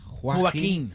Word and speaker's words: Joaquin: Is it Jacquin or Joaquin? Joaquin.